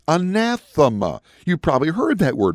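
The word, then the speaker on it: ἀνάθεμα: the Bible says the greek word here is pronounced uh nassima you probably heard that word before do you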